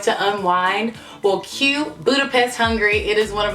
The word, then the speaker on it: Budapest: to any Hungarian person Americans say Budapest or a lot of people say Budapest but it's actually Budapest as I learned from